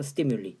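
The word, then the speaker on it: stimuli: 그러니까 발음을 외우세요. 발음. 스티뮬러스, 스티뮬리. 어디서 들어본 것 같잖아요.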